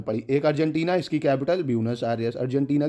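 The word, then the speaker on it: Buenos Aires: ब्यूनस, spelling गलत लिख दी मैंने, एक सेकेंड, BUENOS होती है ब्यूनस आयरस। ठीक है, AIRES, बाकी प्रोनाउंसिएशन अलग अलग हो सकते हैं। ब्यूनस आयरस कोई बोलता है, कोई एरियस बोलता है।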